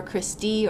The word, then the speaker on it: cristae: here these folds are called cristae or Christie or Christie I've heard and pronounced several different ways but these folds are going to be called cristae and that increases our